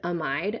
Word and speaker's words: amide: And then for something to be an amid, notice I'm using short sounds for the A and the I. Um, the word amide actually means something entirely